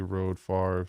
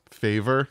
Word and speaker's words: Favre: Favre was 94 draft? I think so, Corey. They butchered his name when they drafted him. Favor, I think they called him. Yep, he got it.